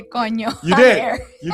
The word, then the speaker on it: coño: How is it pronounced? Coño. Gonyo. With Okay. Oh, Conyo? Yeah. Conyo. Like way down in Kokomo? You heard it here first, folks. We just got Aaron to say coño.